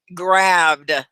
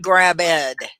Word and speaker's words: grabbed: blockhead oh thank you ben grabbed not grab ed okay really important i